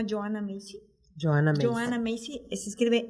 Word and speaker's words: Macy: Joanna Macy, se escribe M-A-C-Y, Macy.